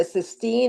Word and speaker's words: cysteine: CYSTEINE. Is that correct? Yes, 16. And then you pronounce it cysteine.